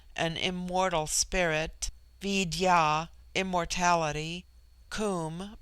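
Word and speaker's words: Koom: Immortal Spirit Vidya immortality comb pronounced like the Welsh comb denotes something of hollowness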